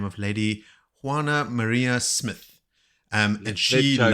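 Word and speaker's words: Juana María: to a lady by the name of Lady Juana Maria Smith, and she Let Jody loved. say that first. How do you say Oh, that? Juana Maria.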